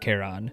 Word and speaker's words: Charon: Charon, as in the ferryman's name, is so phonetically close to Karen, who wants to speak to your manager, I kinda understand why they're all so dead inside.